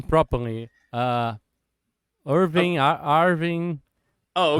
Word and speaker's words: Irvin: Here in Mexico, we pronounce it Irvin. Irvin. Okay. Irvin. Yeah, it's kind of Yeah. weird, right? But I have seen very on a very different places that they write it and pronounce it Irwin.